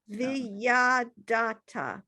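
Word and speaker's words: וידעת: Ein Od, Emet Malkeinu, Ephes Zulato, Kakatov Batodato, Vaada Viada Eta, Viyadata. Viyadata, Viyadata. So the ayin is silent.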